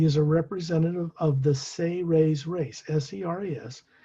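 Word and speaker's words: Seres: a representative of the say ray's race s-e-r-e-s it's pronounced as if you phonetically pronounced it s-a-y hyphen r-a-y-s say rays they're the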